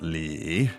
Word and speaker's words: 李: Surname is 李 Li, which also third is a tone.